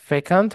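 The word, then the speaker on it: fecund: আচ্ছা ঠিক আছে আচ্ছা এই ওয়ার্ডটা হচ্ছে হলো ফেকান্ট বলা হয় এটা আরো একটা উচ্চারণ সম্মত আছে ফেকান্ট যদি আমরা আসি এই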